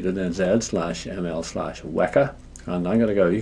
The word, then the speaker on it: Weka: of the word weka it's called weka we don't like calling it weaker system it's not weaker it's weka pronounced to rhyme with mecca that's the name of